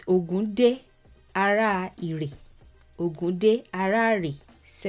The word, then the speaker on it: Ògún Dé, Ààrẹ Ìrè: This one is more popular in Cuba and it's titled Ogunde Arere. That's kind of how it's pronounced in Lukumí, but it's Ogunde Arere.